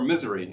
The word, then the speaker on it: Missouri: i remember asking him is it pronounced missouri missouri missouri or misery and he says he said the ladder and i was like